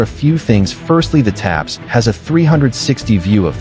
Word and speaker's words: TAPS: system called a top attack protection system taps pronounced taps.